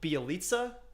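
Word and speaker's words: Bjelica: But they also lost Porter and correct my mispronunciation, but Bielitsa.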